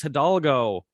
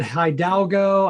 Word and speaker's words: Hidalgo: And our guest today is Hidalgo. Josh, how are you? Great to be here. Good. And thanks for pronouncing my last name correctly.